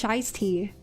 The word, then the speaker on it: shiesty: It's not pronounced like feisty? Are we reading the same word right now? I feel like I'm being gaslit because you guys are telling me it's shiesty.